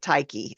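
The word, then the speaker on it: Tyche: Ty c e and there are a lot of different pronunciations um there's ta taii tie she is the Greek goddess and personification of good luck chance and Fortune I've always pronounced it tyi I don't I don't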